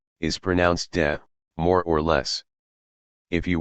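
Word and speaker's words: 德: As we were saying, te is pronounced de.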